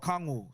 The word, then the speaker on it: Okongwu: Oh, Okongwu.